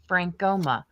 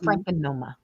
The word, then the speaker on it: Frankoma: I call it Frank because I have to concentrate when I say Frankoma. I want to call it Frankenoma. I have a really bad habit of adding extra syllables.